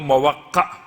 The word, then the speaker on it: موقع: ان کے نام کا تلفظ یا ان کے نام کا جو وہ کیا گیا، وضاحت کی گئی، وہ موقع بن سمامہ سیداوی اسدی۔ موقع میم واو قاف اور عین، اختلاف مرقع میم رے قاف عین۔ یہ 7 محرم